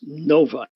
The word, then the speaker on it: Novi: Metropolitan Detroit area uh and yes it is pronounced noi and just a quick comment for the folks